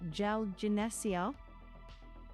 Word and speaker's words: 잘 지내세요: Stretch the middle. Yeah. 잘 지내세요. Soft G. Jine.